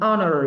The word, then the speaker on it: honor: is more about how it is spoken or pronounced. Hospital, a hospital, a heart. An honor, we have it.